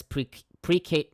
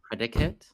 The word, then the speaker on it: precative: eschatological force, or as precative prefects. Predicate? No, precative.